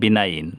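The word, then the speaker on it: benign: যেমন জি এন এর পূর্বে আই আছে, যদি আই থাকে তাহলে জি উচ্চারিত হয় না, যেমন বিনাইন, সদয়।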